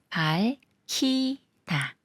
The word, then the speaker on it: 밝히다: 되면서 시혜로 읽는다고 했었죠 밝히다 해서 리을 기억 받침 중에 리은 생각 말고 기억과 히읗이 만나는 거라서 키이 되면서 밝히다 밝히다 이번엔 저랑 같이 문제